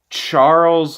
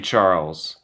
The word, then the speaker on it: Charles: do understand why but it's a CH so I'm gonna say Charles I'll just say Leclerc